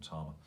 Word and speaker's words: Tama: I call them Tama. People call them Tama. That's because it's pronounced Tama. Yeah, I still want Tama. It's an accent. We'll put it down on a London accent thing.